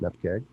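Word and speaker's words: nupkg: number, and then the nupkeg extension. That's how you say it, nupkeg.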